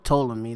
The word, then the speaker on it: Ptolemy: This put Ptolemy, or Ptolemy, that's how you pronounce it, yeah.